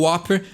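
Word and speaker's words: Whopper: o whooper né então muita gente fala whooper mas né a pronúncia correta é o whooper que é algo que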